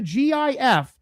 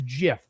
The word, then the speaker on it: GIF: The creator of the GIF, Steve Wilhight, said the official pronunciation of it is GIF with the J sound.